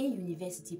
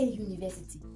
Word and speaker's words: university: Bien que ça commence avec une voyelle, la prononciation nous donne un son consonne. Alors on met a university, non an university.